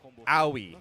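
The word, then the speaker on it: Aoi: This might be a little tricky for owi. That's how it's pronounced. I I double checked it. So how Owie works is she is kind of like a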